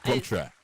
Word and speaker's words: Plumptre: Did I, pronounce that correctly? Come again. Say that again for me. Say that. Yeah. Plumptre.